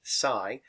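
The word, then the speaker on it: ψ: Now they kind of look like a trident, is the Greek letter psi, which is spelled psi. We pronounce it psi.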